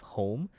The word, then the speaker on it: Hoame: clinician who is the co-founder of home North America's largest meditation studio and is print it is spelled h o AME and she